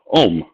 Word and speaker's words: ohm: pronounced omega, is the same as its first syllable is, well, ohm.